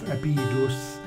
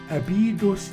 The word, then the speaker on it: Abydos: him and dismembered his body the temple of abhidus became a place for the pilgrimage that most